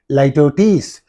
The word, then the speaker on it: litotes: How do you pronounce this one? Litotes. You have to say Litotes.